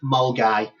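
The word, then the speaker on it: Milngavie: It's a place called Mulgai, which is written Melan Gabby. So, it's pronounced Mulgai.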